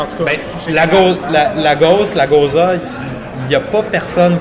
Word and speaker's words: Gose: Il y a le côté salin aussi d'une Gose, une Goza, pour la prononcer comme il faut, je crois.